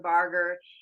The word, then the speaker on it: Barger: Barger.